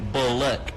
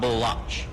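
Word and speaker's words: Bulloch: go with bullock academy how do you say that again bullet not blotch bullet yeah that's what i'm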